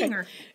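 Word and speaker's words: Gingher: a pair of Ginger, is it Ginger? Is it that the right way to say yes, it? Yes, okay. Ginger.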